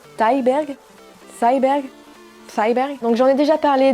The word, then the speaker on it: Thyberg: Numéro 10, Pleasure de Ninja, comment ça prononce? Thyberg.